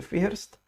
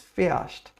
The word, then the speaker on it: fährst: The H in German isn't that strong. We don't pronounce it. We don't say fährst. It's fährst. Yes, and R is pronounced like er. So it comes to be fährst.